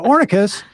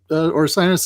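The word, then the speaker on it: Orcinus: uh your blog which I have been apparently mispronouncing for uh 18 or 19 years which I thought was uh ornicus and you have just told me it uh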